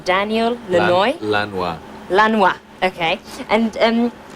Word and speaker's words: Lanois: to producers Brian Eno and how do you pronounce his name Daniel Lee Roy Lanois Lanois okay and and how would you describe they're